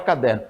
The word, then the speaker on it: caderno: Então olha o caderno Então veja que você vai prolongar a sílaba em der então é é uma a sílaba forte não é a última é é a penúltima fazendo dessa palavra uma paroxítona tá bom uma paroxítona